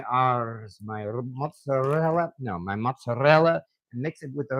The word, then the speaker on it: mozzarella: Yeah, that's the other kind of cheese that I've always pronounced with an accent for no real reason. People have actually made fun of me. Not heavy fun, but they've done it just because I pronounce mozzarella with like a rolling my R's, my mozzarella, and